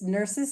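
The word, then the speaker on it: Nursys: And in this case, nurses is spelled Nurys and it's basically a core IT program.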